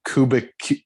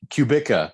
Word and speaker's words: Kubica: but i don't know kubrick cubica that's that's how you say it's robert yes he was